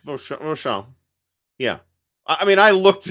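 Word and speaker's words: Vauchamps: So, Hey, Stigler, forget the Z at the end, or the Z, the way you Americans pronounce it. Forget the Z, the Z. It's not Vauchamp. Vauchamp. Z is silent. Vauchamp.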